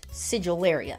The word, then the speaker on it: Sigillaria: Doesn't sound right, but that's apparently how you pronounce it. Sigillaria.